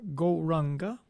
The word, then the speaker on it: Gauranga: So for this session, we're going to use the mantra Gauranga. And we will divide Gauranga into 4 syllables. Go, Ra, Ang, Ga.